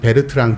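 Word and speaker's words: Bertrand: 것보다 좀 전에 아 저는 버튼 라이트 마이어 라고 있는데 그 원래 발음 베르트랑 틈 가 불렀습니다 4 4 버트란드 마이어의 그 논문 중에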